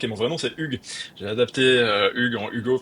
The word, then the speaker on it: Hugues: Bonjour Stéphanie, alors je suis Hugo, j'habite à New York et mon vrai nom c'est Hugues. J'ai adapté Hugues en Hugo parce qu'ici Hugues est difficile à prononcer, donc ça fait 14 ans que je suis aux États-Unis.